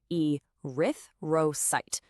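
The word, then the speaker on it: erythrocyte: E Rith roite. The stress is on that second syllable. Rith.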